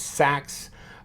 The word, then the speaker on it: seax: Of course, this is the Seax, S-E-A-X, or it could be pronounced as Sax. Derived from the word Saxon.